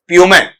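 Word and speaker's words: Puma: ये लो सिंपल सा अब जैसे पुमा नहीं होता है प्यूममेन ठीक है रेना नहीं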